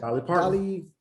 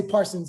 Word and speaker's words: Parton: How you say it? Dolly Parton. There we go. I be wanting to say Parsons, and I'm like, I know I'm about to say her last name wrong.